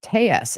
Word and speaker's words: Telles: jump in Robert clarified today his name is pronounced Tes and I will say Robert tus is the